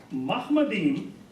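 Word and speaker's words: מחמדים: Now the word Mahmadim is a Hebrew word. It's plural. It's pronounced differently. Ma. It's not mo.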